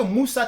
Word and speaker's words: Mussa: Christopher Moussa, son Moussa, c'est pas la même chose comme le Moussa que nous connaissons. Son Moussa, je crois que c'est M-U-2-S-A. Voilà. Mais c'est pas grave, c'est la même prononciation.